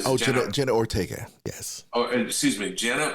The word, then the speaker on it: Jenna Ortega: It's a terrific series, and Jenna Ortez is fantastic. Did I pronounce that right? Jenna Ortega.